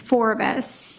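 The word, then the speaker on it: Forvis: It's Forbes. Forbes. Yes, and if you have trouble remembering it, it's kind of a combination of two words, which is forward vision.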